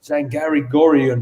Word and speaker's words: Zargaryan: He's Zargaryan or however we pronounce it. It's Zargaryan, man. Mm-hmm. Zargaryan, that's it.